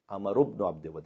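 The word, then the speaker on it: عمرو بن عبد ود: انا عامر ابن عبدود، عامر ابن عبدود، یہ صحیح تلفظ ہوگا۔ اور مولانا نے کہا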